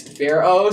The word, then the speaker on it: Farro: told me before she was like you've been pronouncing the last thing wrong it's Pharaoh so every time I have to say the